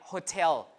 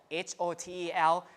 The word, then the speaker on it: hotel: The word like hotel, H-O-T-E-L, some people pronounce the H, some people don't, hotel.